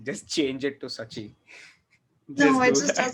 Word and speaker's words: Saachi: My name's pronounced Sachi.